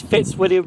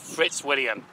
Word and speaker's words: Fitzwilliam: to Fitzwilliam so this is Fitzwilliam rally station yes I've said it right this time not Fritz William now in the previous